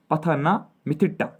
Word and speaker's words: Pathanamthitta: पठानमिट्टा, है ना, पठान, जैसे आप पढ़ोगे देख लीजिए, ये स्पेलिंग है PATHANAMTHITTA, मैं इसको पढ़ता हूँ पठानमिट्टा, ठीक है।